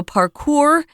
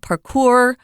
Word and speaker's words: parkour: It came up first in French, and so parkour is the way they would say it. We also will pronounce it parkour, parkour, or parkour, as I've heard it pronounced as well.